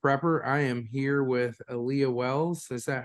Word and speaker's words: Alia: I am here with Alia Wells. Is that how you say it, Alia or Alia? It's Alia. Alia.